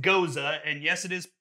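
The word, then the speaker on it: Gose: from the ghost it goes now it is pronounced Goza and yes it is spelled gos see and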